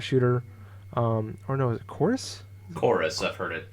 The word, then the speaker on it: Chorus: It looks like it's spelled Corvs though in the title. This is stupid. Yeah, you're not the only one that mistaked it. It's their fancy way of saying chorus.